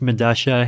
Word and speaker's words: Medalla: i believe it's pronounced midasha it's a south american subway station i forget where but spelled with two l's yeah yeah because that's you know that's how spanish works right like the two